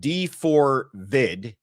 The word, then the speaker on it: d4vd: Talking about I like how you said D4 vid. That's I don't I don't know how we're pronouncing this. I pronounce it David. I've heard many people say D4V. I I'm going with David.